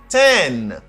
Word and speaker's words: one: 6, 7, 8, 9, 10. Good. 0. Repeat after me. 0. 0. 0. Good. 1. Nan sa gen yon W qui pas écrit mais qui prononcé. W. You say wa. Ouais, son W a?